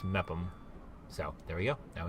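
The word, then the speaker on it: Meopham: for my previous video where I pronounced it me opem apparently it's just met them so there we go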